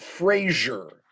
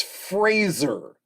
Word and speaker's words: Fraser: For all who don't know, it's not Fraser. It's Fraser, like razor or laser.